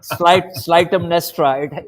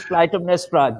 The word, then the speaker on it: Clytemnestra: So I tell them that you cannot pronounce it Clytemnestra. It is Clytemnestra. Greek does not have the C sound.